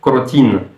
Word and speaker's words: crotin: c'était marqué crotine puisque le son nasal le son 1 n'existe pas en russe et j'ai demandé donc à la vendeuse de me donner du crotin donc à la française du crotin et à ah crotine B c'était amusant parce que la façon dont prononcer crotin crétin euh le son n'existe pas en russe donc bon euh je lesi